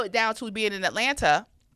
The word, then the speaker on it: Atlanta: So, and when you narrow it down to being in Atlanta, I say Atlanta because I say all the syllables, but when I'm at home, it's Atlanta. Atlanta.